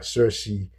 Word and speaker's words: Circe: Um, Circe in the Greek, by the way, in Greek it's called Kirki, right? Kirki, but it's spelled. So I'm just gonna keep it at the give us the English pronunciation, and then Calypso.